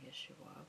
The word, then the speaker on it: Yeshua: I call him Yeshua, which is the actual Hebrew pronunciation.